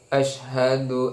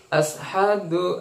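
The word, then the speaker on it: أشهد: an la ilaha illallah, ya ada yang mengatakan ashadu al itu ya pakai sin bukan shin. Ha ya dibacanya ha, ya ashadu atau juga yang lain ashadu, ya ashadu, ya yang benar adalah asyhadu an la ilaha illallah.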